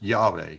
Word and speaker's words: Yahweh: name the way I believe it should be pronounced. So thus says Yahweh, who created the heavens, who is Elohim, he is God, who formed the earth and made it.